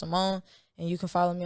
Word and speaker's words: $YMMMONE: $YMMONE is pronounced Ymmmone.